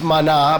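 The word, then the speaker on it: Maná: from heaven Obama manna manna in Spanish it's mana but Manas saying at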